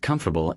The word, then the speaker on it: comfortable: The pattern with comfortable and vegetable is called syllable reduction. In fast, natural speech, unstressed syllables get swallowed.